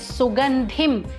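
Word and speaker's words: सुगन्धिम्: Mahaprana is where you have to put in a little extra breath while pronouncing. For example, first word is Sugandhim, Dhi Mahaprana.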